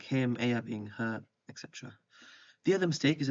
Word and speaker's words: he: And the answer is going to be spelled H-E with the H is silent.